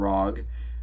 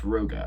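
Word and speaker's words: Rooga: foreign lil yachty and rog or rogue i don't know how you say it um it's roga actually sorry um this song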